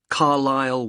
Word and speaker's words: Carlisle: and your address 45 carlyle way could you spell carlisle for me sorry it's c a r l i s l e you don't pronounce the s carlisle way and that's